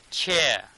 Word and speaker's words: chair: Chair, here chair, r is little bit r sound is missing, so I'm not pronouncing this r sound.